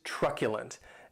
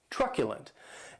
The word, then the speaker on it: truculent: the next adjective is truculent and this word has three syllables and the stress is on that first syllable keep in mind that